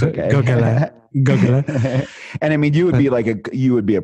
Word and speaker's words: Gauquelin: How do you pronounce the last name of is it Gauquelin? Gauquelin. Yeah, he's a Frenchman. I'll remember that this time. It's okay. Gauquelin.